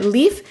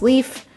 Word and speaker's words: Leif: plants his name is leaf and he's very cute i love plants so i appreciate that his name is leaf it's a little homonym moment and it's very cute